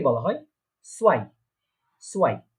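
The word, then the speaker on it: zwei: তো তাহলে এটা কি উচ্চারণ হচ্ছে, প্রোনাউন্সিয়েশনটা কি হচ্ছে, আইনস। ঠিক আছে, তারপরে 2 বা 2 কে বলা হয় সোয়াই, সোয়াই, 2 কে বলা হচ্ছে সোয়াই।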